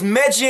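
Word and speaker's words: Megyn: on our list is meggy and Kelly yeah I know that's how you pronounce her name but I refuse to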